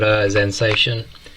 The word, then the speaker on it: Xensation: I think it's called Xensation, the name of the company. I think I was mispronouncing it last time. I think it's a Zen with the X, yeah, as in like Xenomorph and stuff like that.